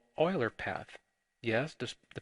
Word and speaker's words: Euler: We also define what we call Euler path. Yes, the pronunciation here is a little different. It's pronounced Euler. Euler path is a path in a multigraph that